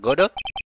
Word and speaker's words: Godot: Godot. Iya, Godot. Kasihan tapi dipanggil Godot. Godo dia, Godo. Katanya Godo. Cara bacanya Godo.